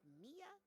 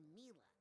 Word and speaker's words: Mila: Is it pronounced Mia or Mila? Well, it's short for Camila, you know?